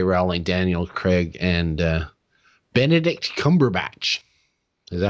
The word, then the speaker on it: Cumberbatch: Rowling, Daniel Craig, and Benedict Cumberbatch.